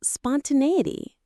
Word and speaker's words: spontaneity: It has 5 syllables. Spon, ta, ne, e, t. The main stress is on the 3rd syllable, spontaneity. Nay sounds like the word nay or say.